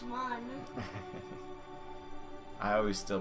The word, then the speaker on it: Mun: because they're like riley it's not ruined it's one i always still pronounce it moon as in our moon even though it's spelled